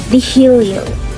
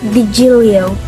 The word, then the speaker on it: DeHilio: My middle name is DeHilio. DeHilio. It's not DeGilio. It's DeHilio.